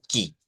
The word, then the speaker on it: que: El que se escribe igual, ortográficamente se escribe igual en el portugués y en el español, pero en el portugués se pronuncia ki.